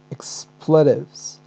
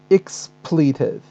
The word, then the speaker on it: expletive: American pronunciation, actually the stress falls on the first syllable, so it is expletives, expletive, okay, expletive. But in British pronunciation, stress falls on the second syllable, expletive, expletive, expletive or expletive. So either way, you pronounce the word correctly.